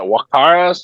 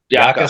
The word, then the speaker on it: Jaca: guys are going to how do you say that? Wakara, Spain? Jaca, Spain.